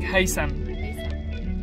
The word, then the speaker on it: Haytham: The spelling is Haytham. Tham. But how you pronounce it is like the TH is like an S sound. So it's like Haytham.